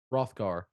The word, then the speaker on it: Rothgar: Rothgar, Yes. Why with the H? the H is silent.